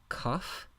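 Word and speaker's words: כף: The kaf is another letter that has stopped and spiranted forms. So when you see the dogish or the stop, you pronounce it with a stop of air. So k, cough. When the letter lacks the dogish or lacks the stop, the airflow continues, so it becomes the spiranted form, chaf, cough, chaf.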